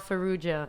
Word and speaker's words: Farrugia: ML Farugia.